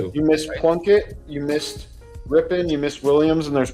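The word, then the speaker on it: Rypien: Yeah, R Y P I N. They're pronounced Ripen.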